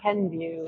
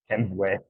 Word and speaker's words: Kenvue: do you pronounce that Ken view Ken view so it is it's not Ken Kenway well there was a